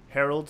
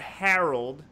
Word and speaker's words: Herald: I'm your host, the master of ceremonies, Herald. I'm broadcasting live from the Quit Stalling Podcast Studio. And yes, that is how it's spelled. Herald, you did not hear wrong. It's H-E-R-A-L-D, not Harold.